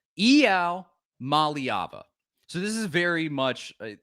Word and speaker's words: Iamaleava: And this is how we've been saying Iamaleava, something like that, along those lines. And this is apparently how his name is pronounced. Here with 5-star quarterback Nico Iamaleava. Nico, what? Excuse me? He said Iamaleava.